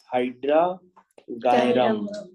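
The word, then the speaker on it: Hydrargyrum: अरे वाह, कुछ सही प्रोनाउंसिएशन बताया सबने, हाइड्रागायरम। उसके बाद बच्चों 11 नंबर पे है सिल्वर।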